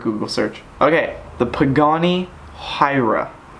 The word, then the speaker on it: Huayra: search okay the Pagani Huayra it's hu a Y or a Huayra Huayra hua Huayra yeah Huayra I think I think that's how you say it top JDM this one's